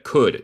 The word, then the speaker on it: could: Recuerda, could. No se dice él es muda y significa podía o podría.